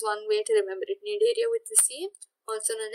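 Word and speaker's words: Cnidaria: have sealant trader which is also known as need area the sea is silent it's called need area but the sea is supposed to be here just just because you say need area do not omit the sea that will cause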